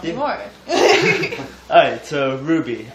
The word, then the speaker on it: RWBY: Alright, so Ruby, it's spelled RWBY, and, it's a series that's going